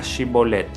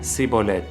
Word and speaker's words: shibolet: no lo soy ellos le pedían que pronunciara la palabra shibolet si era de Efraín diría si bolette porque la gente de Efraín le cuesta pronunciar bien esa palabra entonces se lo llevaban